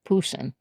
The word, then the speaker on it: Poussin: I for some reason I thought it was just P U S S I N. Mhm. I think maybe because my art appreciation teacher pronounced it Poussin.